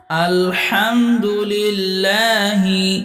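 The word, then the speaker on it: الحمد لله: আলহামদুলিল্লাহি আলহামদুলিল্লাহি রাব্বিল আলামিন রাব্বিল আলামিন আইনে এক আলিফ টান মিমজের মি বলে নকে ধরতে হবে মি এখানে তিন আলিফটান ম আরজিব আলামিন। আলহামদুলিল্লাহি রাব্বিল আলামিন।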